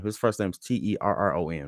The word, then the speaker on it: Terron: I thought it was Taryn. Armstead. I like that all three of us got three different pronunciations out of that.